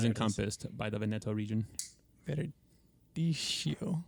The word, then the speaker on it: Verdicchio: Verdicchio. Verdicchio. There's an H in it. Pretend that the CCH is a K. Okay. Verdicchio. But say it in Italian, not in English.